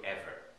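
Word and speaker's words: עבר: So Ivrit means the language of Eber, which is in pronounced in Hebrew, Ever.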